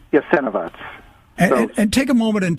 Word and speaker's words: Jasenovac: What is the proper pronunciation? Jasenovac.